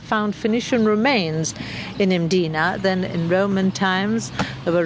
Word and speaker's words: Mdina: the classic city of mdina there's no vowel in that first syllable it's just M di n a it is a closed